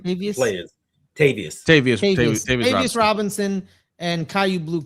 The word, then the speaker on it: Tavarius: I even said that guy's first name wrong. Sorry. It's No, no, no, no. I'm just saying like players. Tavarius Tavarius Tavarius Robinson and Kayvon Thibodeaux Kelly.